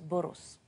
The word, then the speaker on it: Borås: à bord aux sept ça s'écrit borras mais on prononce bolos nous prenons ce avec un os il ya deux festivals